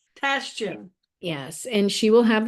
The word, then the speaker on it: Tashijian: It is Tashijian. Tashijian.